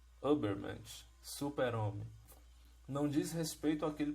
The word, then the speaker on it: Übermensch: Então, na realidade, essa palavra, essa expressão super-homem, que em alemão, né, a gente pronuncia Übermensch, super-homem, não diz respeito àquele personagem dos quadrinhos e dos filmes, não, né?